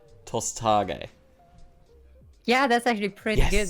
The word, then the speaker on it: Tosthage: Because it's very similar to like the Japanese pronunciations. Right. Oh, yes, of course. Yeah, so it's like Hokage, Tosthage, kind of word.